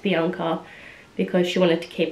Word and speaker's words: Bianca: my name is not bianca it's pronounced bianca um i come from an italian background on my mum's side so that's why it's pronounced bianca because she wanted to